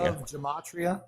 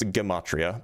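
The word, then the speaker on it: gematria: Gamatria. Have you ever heard of Gamatria? It's pronounced gimatria by the way.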